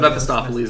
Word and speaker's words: Mephistopheles: About Mephistopheles, I think is how you say his name.